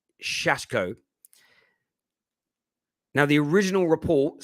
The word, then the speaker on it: Šeško: rb salzburg striker benjamin i've been told it's pronounced shashko now the original report